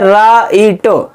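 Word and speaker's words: write: नहीं हो रहा क्योंकि डब्लू के बाद आर लिखा है यदि व के बाद आर लिखा होगा तो व का उच्चारण नहीं होगा पर इसमें ए का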